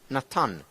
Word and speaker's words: Natan: So Nathan in Hebrew, Natan, to give.